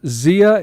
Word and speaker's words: Zia: appreciate the time it's Edward Martinez and it's pronounced Xia environmental engineers is that correct okay good I've